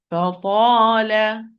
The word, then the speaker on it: فَطَالَ: Ta, it's not a letter of whispering. It's an apparent letter.